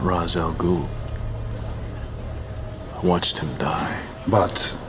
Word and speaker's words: Ra's al Ghul: Mr. Raz Al Ghul? You're not Ra's al Ghul.